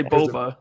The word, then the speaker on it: Boba Fett: youtube comments last week i say bulba but it was it's the way you pronounce it i was like dude it's an accent stop being away if